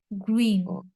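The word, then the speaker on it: grün: বলছি গ্রিন গ্রিন গ্রিন হ্যাঁ আমি বলি বাংলাতে উচ্চারণটা বলি দেই গরফ আছে না গরফ গরফ রসুকার রসই দন্তান গ্রুইন গ্রুইন গ্রুইন ইয়া ইয়া ওকে আপু থ্যাঙ্ক ইউ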